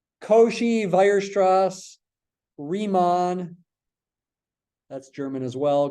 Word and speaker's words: Weierstrass: Don't say Weierstrass, say Weierstrass. It's German. W sounds like a V. Cauchy, Weierstrass, Riemann.